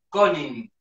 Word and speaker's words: Koning: con acento en la A. ¿Y tu apellido? Koning, Koning.